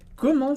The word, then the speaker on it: comment: coisinhas importantes para entender, mas uma é a pronúncia desse en, quando ela diz comment. E aqui é importante que esse é um som nasal do francês também, mas diferente do en em demain, que a gente viu antes.